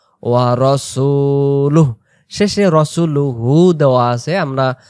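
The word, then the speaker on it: رَسُولُهُ: না আবদুহু ও ওয়া রাসুলুহ শেষে রাসুলুহু দেওয়া আছে আমরা এখানে যেহেতু উচ্চারণটা আমরা নিশেষ শেষ করতেছি এজন্য রাসুলুহনার হু বলার দরকার নাই ও রাসুলুহ এমন করে তাহলে এগেইন আমরা শুরু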